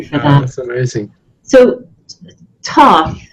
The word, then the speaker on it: Thoth: So, Thoth, right? And the first H is silent, right? Is it Thoth? You can call him Thoth or Thoth or Thoth. Various different ways.